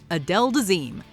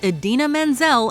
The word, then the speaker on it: Idina Menzel: Somehow, someway, Travolta mispronounced a phonetically spelled Idina Menzel as Adele Dazeem, inviting widespread ridicule from both social media and the mainstream press.